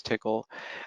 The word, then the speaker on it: Tcl: help so first off what is tickle and this that is the official prison the official pronunciation that the they use for that language it stands for tool